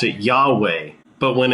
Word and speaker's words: Yahweh: or we call it YHVH, or we just pronounce it Yahweh.